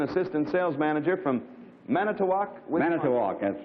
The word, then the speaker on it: Manitowoc: charles ziemer an assistant sales manager from manitowoc manitowoc that's right i said it right are you